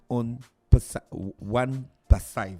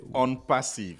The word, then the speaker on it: ONPASSIVE: Ils viennent nous présenter la compagnie One Passive. C'est ça, monsieur Fernand, j'ai bien prononcé? Bonjour. Bonjour. Pas parfaitement, c'est on passive. Oh, On Passive. Ok, d'accord, voilà. Parce que c'est en anglais.